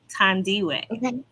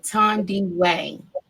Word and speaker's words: Thandiwe: let you know that my name has a couple of syllables um it's pronounced tandi tandi way yeah okay ton D way yes that's how you